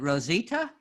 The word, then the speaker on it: Rosita: So is it Rosita? Yes. Now how you say it. Hi, Rosita.